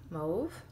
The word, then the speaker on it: mauve: all Windsor Newton Cotman watercolors so I have mave that's how you say it darker purple sap